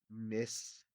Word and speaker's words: Mysticeti: While we have Mysticeti, I'm trying to pronounce it Latin-y, Mysticeti, and this is the baleen whales.